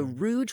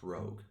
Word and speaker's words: rogue: myself as more of a Rouge with keen eyes and plenty of pockets actually pronounced rogue no that doesn't sound